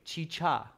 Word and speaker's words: chicha: Carolina is saying both should be pronounced chicha. Carolina, is that the right pronunciation, chicha?